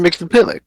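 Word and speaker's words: Mxyzptlk: now I can't get it wrong yeah Mr mix the pill mix pixel mix pixel Mr Max pixel maximum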